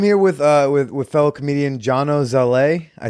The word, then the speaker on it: Zalay: I changed the spelling to make it a little bit more phonetic, but it should be Salai or something like that. But it's Zalay.